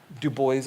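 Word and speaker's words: Du Bois: many of the writers Dubois as well he pronounced his name the American way many of the American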